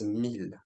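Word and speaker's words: mille: but first the word to say thousand is MIL okay mil and 1,000 is also mil all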